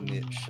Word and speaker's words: niche: Niche finds a niche. Sounds like a Dr. Seuss book. Apparently it's pronounced niche.